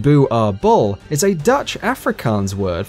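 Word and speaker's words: Boerboel: prey these dogs are illegal in norway booable pronounced bu r bull is a dutch afrikaans word for farmer's dog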